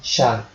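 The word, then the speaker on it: 謝: So I will call her with the Japanese pronunciation Sha.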